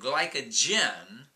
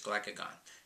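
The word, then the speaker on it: glucagon: It sends a messenger molecule called glycogen. I'm sorry, glycogen. Yes, glycogen over to tell the liver to send out glucose back into the blood. I just still said it wrong. It's glycagon.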